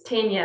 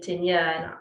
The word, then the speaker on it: Tennier: So when they called register, they used to pronounce my surname, it's Tennier, and I think because it was very Afrikaans, they pronounced it Tennier, and I used to